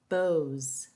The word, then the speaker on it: beaux: The ending is pronounced as Z. Chateaus, beaux, tableaux.